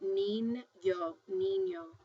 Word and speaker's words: niño: sounds like the NY Niño--you can hear it-- Nin-yoh.